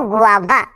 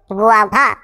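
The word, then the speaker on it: guava: যেমন দেখো গুয়াভা, এখানেও ইউ এবং এ ভাওয়েল ব্লেন্ডিং ওয়ার্ড আছে, তার মানে ওয়া সাউন্ড করবো।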